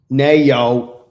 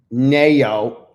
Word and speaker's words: Nayo: Nayo. Yeah, that's exactly how you spell it. Nayo. It's Ayo with an N in the front. You know? Ayo. And then you put the N. So it's Nayo. Coach Fred.